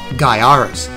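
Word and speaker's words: Gaiares: for being extremely difficult and that game is guyaris and guyaris is number one yes it's pronounced guyaris cause jamie bunker says so but mullets aside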